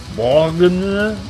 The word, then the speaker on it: Borgne: Swiss black metal orchestra Borgne, because it's like Borgne, but like try to pronounce it. How does a French person pronounce it, or a francophone person? Borgne. Let's go with that.